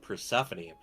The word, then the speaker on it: Persephone: No mistake, but it's pronounced Persephone.